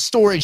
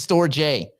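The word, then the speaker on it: Storj: is it pronounced storage the company's pronounce storage stupid the token is stor J because there's no AG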